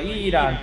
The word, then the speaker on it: ELAN: 特に今回はイーランという、読み方はエランという人もおるし